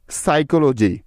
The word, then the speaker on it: psychology: এখন এস এর আগে পি সাইলেন্টের কিছু উদাহরণ, যেমন সাইকোলজি, PSYCHOLOGY, সাইকোলজি।